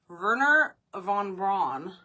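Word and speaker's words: Wernher von Braun: found this one name verer Von Bron verer Von Bron V it's actually starts with a w but the way that they pronounce it yeah so ver Von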